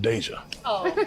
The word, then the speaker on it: Deja: They Thank say you, that in the black community, it's pronounced Deja. Deja is how they say it.